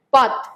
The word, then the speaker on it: path: Okay, அடுத்து பாத். பாத் அப்படிங்கிற வார்த்தை, பாத் அப்படிங்கிறது PATH, பேத், பேத் அப்படின்னு சொல்லணும்.